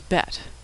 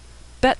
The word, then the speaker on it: bet: how to pronounce bet if there's a dot inside the bet it's pronounced as in boy if there's no dot it's pronounced as in victory bet with the b